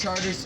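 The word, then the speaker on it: Chartres: Now we're on Charter Street right here. Charter Street in New Orleans is Charters. In French, it would be Chart, but that's way too easy of a joke there.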